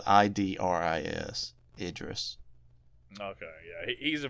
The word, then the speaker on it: Idris: Iris Elba. Idris Elba. Yeah, his first name is spelled I D R I S.